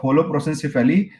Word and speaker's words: holoprosencephaly: This is a case of holoprosencephaly, and correct answer is trisomy 13.